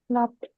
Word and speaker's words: laughed: ईडी आया तो क्या प्रोनाउंस करना है? Laughed.